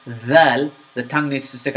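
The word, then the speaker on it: ذال: That's why I have you not stick your tongue back in. I need your tongue sticking out when you pronounce that Z. So, th, th, th, th, dhal, dhal.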